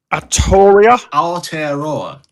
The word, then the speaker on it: Aotearoa: How's that pronounced, Sam? Aotearoa.